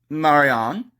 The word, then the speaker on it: Marianne: look at that Marianne Marianne pronounced Marion has been the national